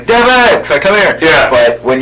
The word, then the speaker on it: Devix: That's actually you guys are some of the few people who kind of pronounce it. I was I'm pretty sure that it's Devix, but yeah.